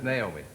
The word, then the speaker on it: Naomi: And it's Naomi. When I'm mad at her, it's got about 5 syllables in it.